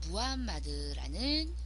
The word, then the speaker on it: 무함마드: 인물입니다음 같은 사람이에요 어 아랍어로 부르면이 무함마드는 발음이 맞지만 지금은 마호메트는 이름으로 훨씬 더 많이 부르죠이 마호메트는 바로 불교 기독교와